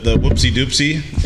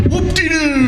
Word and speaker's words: Whoop-de-doo: Is that the whoopsie doopsie? No, You gotta say it right. I didn't say it right. It's the whoop-de-doo.